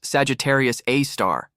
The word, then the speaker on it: Sagittarius A*: Lurking in the center of our own galaxy is a monster, a super massive black hole named Sagittarius A, pronounced Sagittarius A star.